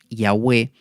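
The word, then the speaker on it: Yahveh: es lo que llamamos llave jehová pero yagüe sería en la pronunciación más acertada este es el nombre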